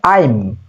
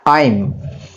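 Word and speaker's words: I'm: এটা উচ্চারণটা হবে আইম, আইম। অনেকে এটাকে আম বলে, কিন্তু আম না, আইম।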